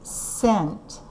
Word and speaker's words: cent: you write 1 cent cent is spell see ii-in T that's a soft C see it's followed by an e so it's a soft C and we say cent there you go okay